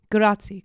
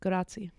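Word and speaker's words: grazie: be able to speak the language you know grati grati oh I said it wrong grati gra there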